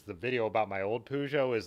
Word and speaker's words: Peugeot: made fun of me for saying pujo and i'm like you don't say the t in a word like that in french but then he told me it's a dialect thing some people do say pugot and some people do say pujo in france so for what it's